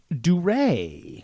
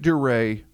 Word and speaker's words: Dury: So he pronounced it Dury. I'm going to pronounce it Dury.